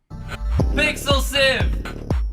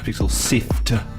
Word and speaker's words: Pixel Sift: Pixel Sieve! It's not Pixel Sieve, it's Pixel Sift.